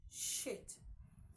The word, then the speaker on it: chute: CHUTE is pronounced as shit. Shit. Okay? Shit. As found in parachute.